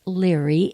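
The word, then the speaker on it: Liri: So what they say about today is today actually has a name to it, and it's L-I-R-I. I would think it's pronounced Leary, at least in our culture.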